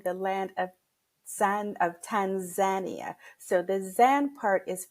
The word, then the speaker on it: Tanzania: our first conversation I asked oh it's not pronounced Tanzania you said no it's pronounced Tanzania and can you please explain to everyone why